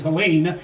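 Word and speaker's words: Helene: that came through uh I always said Helen but apparently the pronunciation is Helen uh that that that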